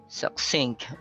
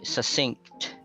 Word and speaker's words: succinct: So you can pronounce the first C as a K, succinct, or you can ignore it like succinct. They are both acceptable.